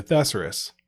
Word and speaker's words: thesaurus: You put the emphasis on the wrong syllable. Exactly. So I really don't know if it's thesaurus or thesaurus. It is. Thesaurus.